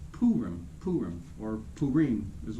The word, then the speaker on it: Purim: feast of purim and it's purim or purim if you really want to be a rookie if you read it it's p-u-r-i-m you you say purim jews are really that's